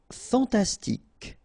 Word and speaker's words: fantastique: Fantastique. Okay, Q-U-E at the end, K, okay, tic.